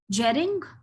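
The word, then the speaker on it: Jhering: Jering or iring, as you may pronounce.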